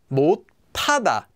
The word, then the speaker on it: 못하다: This one, 못, by itself, becomes pronounced as 못 due to regular sound change rules where that letter cannot be pronounced, so it becomes a tigut, as I've written on the slide. That sound then combines with the hiat, that H sound, and becomes tada, 못하다, 못하다.